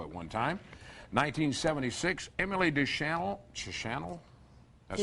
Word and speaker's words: Deschanel: 1976, Emily Deschanel. That's how you pronounce it.